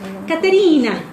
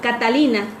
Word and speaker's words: Catalina: O si voy a Italia, ¿no? Me llamo Catalina. Caterina. No, Catalina.